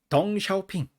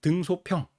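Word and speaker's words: 鄧小平: 이렇게 읽고 그죠 그다음에 그 등 덩샤오핑 요렇게 발음하지 않고 등소평 렇게 읽었었고 어 그래서 지금 시진핑 주석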